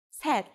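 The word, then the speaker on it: 셋: o'clock is seshi seshi the native Korean number three is set but we shorten it to say when we put it before our counter like C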